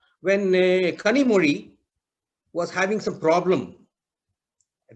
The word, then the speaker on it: Kanimozhi: And on the TV, he's talking about her Kanimozhi. He pronounced the Z also. This is how we are writing it, Kanimozhi instead of Kanimozhi.